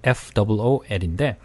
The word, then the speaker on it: fool: F-O-O-L인데 앞에 있는 발음은 으 발음, 그래서 full. 그리고 뒤에 있는 발음은 바보다라고 할 때는 fool, fool, 네, 네 우 발음 번갈아서 한번 읽어볼게요.